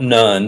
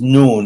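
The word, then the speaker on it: نون: uh well in Arabic the letter N is pronounced noon okay so this is not nun it's written like nun like Joshua son of nun but this is noon it's pronounced noon and uh but what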